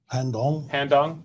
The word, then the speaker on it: Han Dong: Han Dong?